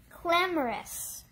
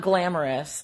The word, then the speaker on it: clamorous: Clamorous. Clamorous. Not glamorous.